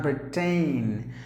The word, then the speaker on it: Britain: Now here the letter I is silent, so you have to pronounce the word as Britain.